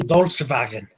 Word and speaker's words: Volkswagen: I say Volkswagen, Okay. the German pronunciation.